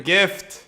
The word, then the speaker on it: GIF: the guy the guy the guy with the gift he's the guy with the kisses oh did you say gift or gift gift and gift although I think